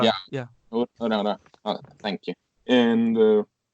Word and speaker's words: Uraraka: I can't even pronounce her name. Uraraka. Yeah. Urahara. Yeah. Yeah. Uraraka.